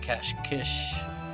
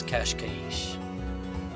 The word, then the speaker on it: Cascais: here and in portuguese the i in kashkaish is actually an e which is a lot like the spanish the i is turned